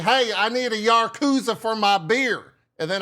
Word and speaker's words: Yakuza: That's it's Yakuza. Not Not Yakuza. It's It's not Yaruza. It's Yuza. Proper pronunciation. The emphasis is on the first syllable.